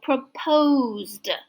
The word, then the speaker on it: proposed: The S sounds like Z, so proposed.